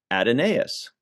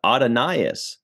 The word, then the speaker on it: Adonais: our friend Google um said in one thing it said it's pronounced just like Adonis I'm like that's pretty